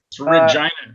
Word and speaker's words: Regina: It's Regina. I They call it the Oh, I city. was right. I just mispronounced it.